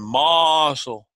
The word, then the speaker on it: Marshall: I can't say your name without saying Marshall. That's how they say it in South Carolina. Don't pronounce those R's. Yeah, there's no R's at all.